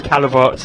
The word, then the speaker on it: Callewaerts: while he was there, but it was Callewaerts. It's how it is pronounced. they were delighted to be here. And Great. You know what's great is, like, Jasper Calavorts, he's just stood out to me.